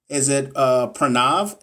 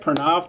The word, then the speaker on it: Pranav: Is it Pranav? Did I say it right? Pranav Patel?